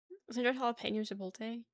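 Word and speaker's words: jalapeño: Jalapenño makes no sense with how it's spelled, but everyone will correct you if you say it wrong.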